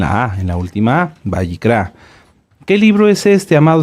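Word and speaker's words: Vayikra: muy bien el libro lo hemos conocido como levítico pero lo correcto es bicra ahorita les digo Qué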